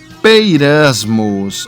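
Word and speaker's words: πειρασμός: palavra grega utilizada é peirasmos. Olha só aqui, ó. Peirasmos, né? Olha aqui, tá escrito em grego e aqui tá como ela se pronuncia aqui, ó, como na nossa linguagem, né?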